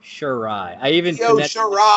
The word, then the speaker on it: Shirai: Io Shirai. I even phonetically spelled it out in my notes so that I would say it correctly.